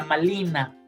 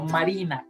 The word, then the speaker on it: Malina: Y a la niña Malintzin le llaman la niña Malina, no Marina, Malina, porque los nahuas no conocían la R.